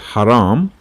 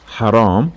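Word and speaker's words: حرام: put this mindset that ha is a new sound it's not head and i'll show you now few examples that if i change the height to her it might be even completely irrelevant word you know for example the famous word haram haram which means not allowed or not permissible start with ha if i change it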